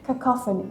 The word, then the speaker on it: cacophony: on team European not sure but kopon okay cacophony correct cacophony and what is it um it's